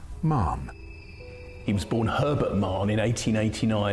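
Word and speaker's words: Mahon: That's spelled Mahan, but he came from Irish stock and it's pronounced Mann.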